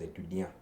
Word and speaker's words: étudiant: But when you look at it, if you read it as it is étudiant. But the French people pronounce it as étudiant.